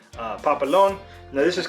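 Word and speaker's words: papelón: but it uses a kind of sugar called Papillon now this is called I wrote this down so I would not pronounce this incorrectly in Venezuela it's pretty it is pronounced or it is called Papillon in uh a lot of Central American countries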